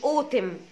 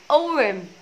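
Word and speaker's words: autumn: اوتم، لا اما اسمها اورم اورم. ليه بقى؟ لانه التي بتوين تو فاولز، فلما دايما التي تكون بتوين تو فاولز التي بتتنطق ار ار، وده برضو موجود كتير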